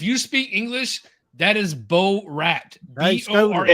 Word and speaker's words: Borat: All right, Yeah, in English, if you speak English, that is Bo Rat.